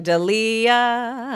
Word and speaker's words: D'Elia: I'm ready okay so in order to pronounce my last name correctly you can simply sing deah I just met a